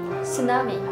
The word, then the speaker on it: tsunami: Tsunami . Very good . Remember , the T is silent .